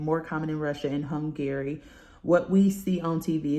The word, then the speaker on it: Hungary: in like Russia and Hungary I'm not hungry Hungary that's how you say it all right so um